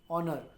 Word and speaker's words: honor: Honor also O pronunciation.